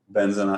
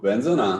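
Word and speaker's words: בן זונה: And then if it's a curse word, it's on the zona. It's on the na.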